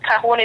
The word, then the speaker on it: Calhoun: It's spelled C as in Charlie, A as in Alpha, L as in Lima, H in Hotel, O as in Oscar, U as a uniform, N as in November.